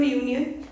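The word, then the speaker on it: union: तो यूनियन का दीपक वाई, यू में वाई का उच्चारण यहाँ पे आ रहा है, तो यहाँ पे यूनियन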